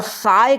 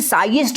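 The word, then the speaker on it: sigh'st: तुम होता है, और साय का मतलब यहाँ पे कराहना होता है। इसे साइएस्ट मत पढ़ देना, साय एसटी यहाँ पे जो है साइलेंट रहता है।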